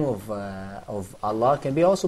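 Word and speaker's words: الله: For example, when you say Allah, so we don't say Allah. Yeah. Can you see that? So we say Allah.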